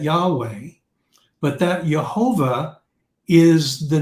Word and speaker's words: Yahweh: scriptures you see that Yahweh how we pronounce y-h-v-h or y-h-wh okay we pronounce that Yahweh but that Jehovah is